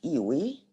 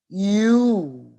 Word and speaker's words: ewe: pronounce it okay no it's not ewi and it's not UI no no that's wrong here is the correct pronunciation and you will find this in the dictionary the correct pronunciation is you which means a female sheep Naga how about this